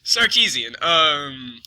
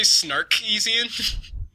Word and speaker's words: Sarkeesian: I know I can never say her name right. Sarkeesian. Because I always want to say Snarkeesian.